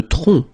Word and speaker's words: tronc: Le tronc. Le tronc, okay, remember, final C is not pronounced here.